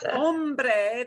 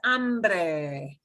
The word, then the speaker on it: hombre: one that people oh this is not hombre this is ambree ambree the old west